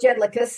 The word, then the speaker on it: Jedlicka's: And then she also has a book signing coming up at Jedlicka's Saddlery. Did I pronounce that correctly? Yes, Jedlicka's Saddlery in Los Olivos, California, which is a little town near right next to Solvang and San Ynez.